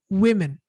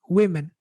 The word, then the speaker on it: women: Also, women. Women. Even though it's spelled with an O, that O is actually pronounced as a I.